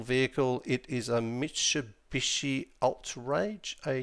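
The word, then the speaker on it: Attrage: It is a Mishabishi Alt Rage. A T R A G E. So, Alt Rage, I think it's it's how you pronounce it.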